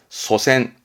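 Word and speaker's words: 祖先: 발음은 소센, 소센인데 이거를 거꾸로 써요.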